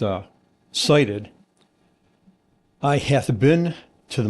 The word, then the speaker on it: SIDIT: So, SIT pronounced uh cited.